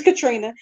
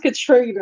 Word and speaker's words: Contrina: never heard of krina it's Katrina it's just spelled weird my mom was trying to be different so it's pronounced Katrina but it's spelled krina